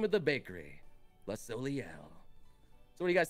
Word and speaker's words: Soleil: How do you pronounce it, guys? Yeah, yeah. Soleil. Soleil? Okay, Soleil? Thank you. All right. It's Soleil.